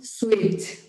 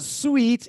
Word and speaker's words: suit: It's not sweet. It's suit.